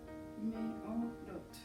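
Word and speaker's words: מאורות: Meorot. Ahí está, meorot, y como se pronuncia sería meorot, y significa lumbreras.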